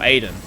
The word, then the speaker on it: Aiden: Oh, Aiden. Not Adon. Aiden.